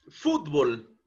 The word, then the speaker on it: fútbol: ¿Cuál de las dos sílabas es la que lleva el mayor impulso de voz? Fútbol. Evidentemente es la sílaba Fots, ¿no es cierto?